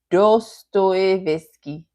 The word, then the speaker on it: Dostoevsky: It's pronounced Dostoevsky.